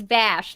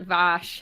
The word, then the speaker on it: Vash: I wanted to do Vash the Stampede, but it's Vash, not Vosh.